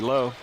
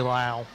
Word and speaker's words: Lau: Nice layup there by Bethany Lowe. It's actually Lau. Well, they pronounced it low at the. Oh, It's Lau, yeah. I have a friend that pronounces it Lau, and then they go to church with And him.